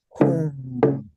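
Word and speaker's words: hūṃ: So it doesn't make grammatical sense. It's unique. So we're going to say home.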